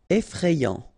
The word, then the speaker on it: effrayant: here you frayer effrayé effrayant final not pronounced effrayant amusantf Final pronounc